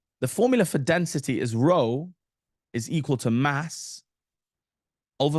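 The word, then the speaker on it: rho: for density and it's row not to don't say p it's pronounced Row the p in the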